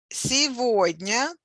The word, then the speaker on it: сегодня: Сегодня, today. Сегодня with a stress on the middle syllable.